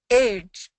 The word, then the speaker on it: edge: But when I pronounce edge, it's sound like a age. Yep. So this is the difference. This this is a vowel issue.